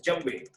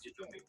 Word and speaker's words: djembe: I want to play the djembe, because the actual pronunciation is djembe. The way they say it is djembe.